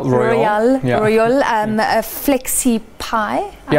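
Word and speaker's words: Royole: Royal.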